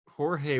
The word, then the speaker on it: Jorge: i i thought that i think hori gymnas i said his name wrong i'm sorry uh jorge would be amazing on aquaman i